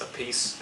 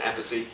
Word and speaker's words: Appice: of Carmine Appice yes a piece and abbacy brothers same name different pronunciation long story so this